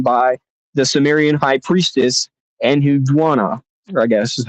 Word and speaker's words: Enheduanna: It's Enheduanna. If you guys want to look this up, but it's the world's first authored poems written by the Sumerian high priestess Enhudwana, or I guess is how you would pronounce it.